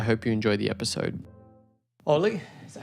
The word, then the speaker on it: Olle: Olle, is that how you say it? Olle? Yes, Olle.